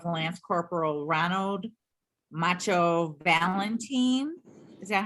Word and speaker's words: Valentin: the mother of the lance corporal ronald macho valentine is that how you pronounce it gloria yes i got it on